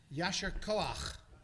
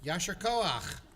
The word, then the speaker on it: Yasher koach: of a service is the Hebrew phrase, which is a little hard to pronounce, but, just use a lot of phlegm. Yasher koach. So, Yasher koach.